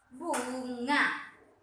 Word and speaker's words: bunga: Ini teacher bilang nggak boleh bacanya eng. Kenapa tidak boleh bacanya eng? Karena ada huruf vokal di depan G. Jadi ini langsung bacanya nga. Ya, bacanya nga ya nak.